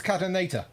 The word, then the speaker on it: Catanator: It's Catanator. See, the pronunciation was correct.